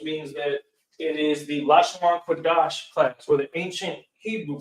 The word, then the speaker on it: Lashawan Qadash: So the language of the Israelites is Hebrew, and particularly ancient Hebrew, or what is pronounced Lashawan Qadash, or what that translates to English, the holy tongue. Now, the Lashawan Qadash is the language that, again, just like y'all